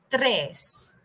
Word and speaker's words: tres: dos dos number three tres Tres R is a unrolling uh pronunciation remember so tres okay so Pharaoh